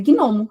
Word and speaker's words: gnomo: Gnomo tem cinco letras e o G e o N são duas consoantes juntas. E cada uma tem a o seu som separado na palavra gnomo.